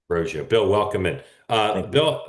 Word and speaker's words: Roggio: Uh, and Bill, Bill, is your is your last name pronounced Roio? That's correct. Roio.